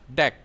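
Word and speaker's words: deque: The name DQ is short for double ended Q and is usually pronounced deck.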